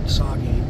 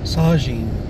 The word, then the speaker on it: Saugeen: Saugeen, not Saugeen. Saugeen. God, I don't know why I want to pronounce that G with the G instead of the Z, because it's the Z. Sajin.